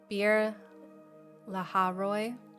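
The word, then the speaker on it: Beer-lahai-roi: Um it's Beer- lahai-roi.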